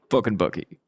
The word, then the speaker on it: FknBucky: And when I say FknBucky, I spell it, you say it. Hayden, what does that mean? Fucking Bucky. That's right. About time you got that right.